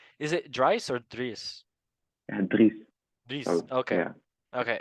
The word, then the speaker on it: Dries: Then Dries Martins from Galatasaray. Is it Dries or Dries? Dries.